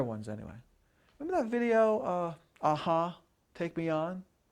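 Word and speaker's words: a-ha: How do you say aha?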